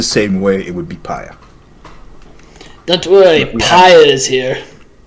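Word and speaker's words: père: It would be more like, your Paya is here. So your father is here.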